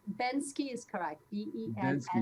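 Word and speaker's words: Banksy: sorry you might know I think it's Penske or Bensky Ben ski is correct K-Y yeah and he and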